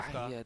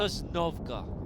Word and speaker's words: Sosnovka: be the shores of yeah, Sosnovka.